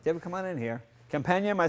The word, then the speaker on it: Campagna: Companion.